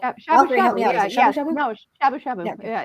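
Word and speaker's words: shabu-shabu: Is that how it's pronounced? I'm horrible. Shabu shabu. Shabu shabu? No, shabu shabu.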